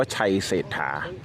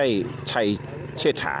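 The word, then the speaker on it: ชัยเศรษฐา: ถึง ปัจจุบัน นะ ครับ ก็ ให้ ออก เสียง เป็น พระ เจ้า ไซเสฏฐา นะ ครับ หรือ ว่า ชัย เศรษฐา ที่ ราด เศษ หา นะ ครับ สิทธิ ฐาน เศรษฐี นะ ครับ ไม่ ใช่ ชัย เชษฐา นะ ครับ เพราะ ว่า พระ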